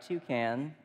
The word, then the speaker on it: toucan: kids favorite birds and what I love about toucan is it rhymes with you can and I know that